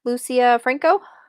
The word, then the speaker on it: Lucia Franco: talking about balance by what's this author's name Lucia Franco that's how you say it I don't know